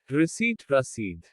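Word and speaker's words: receipt: कुछ शब्दों में P का उच्चारण नहीं होता। साइकोलॉजी मनोविज्ञान। रसीद।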